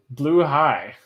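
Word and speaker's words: Blåhaj: that's definitive i think i'm gonna start pronouncing blue high which also makes sense that it translates to blue shark right you know come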